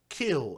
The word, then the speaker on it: Khil: little girl by the name of Lina, Sadar, Khil.